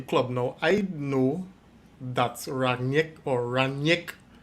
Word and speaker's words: Rangnick: Rangnick. Right. You gotta pronounce the GN like a Y.